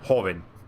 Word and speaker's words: joven: it's pronounced the same, Joven, not Joven. A lot of people don't realize that in Spanish the J does not make the same sound as it does in English.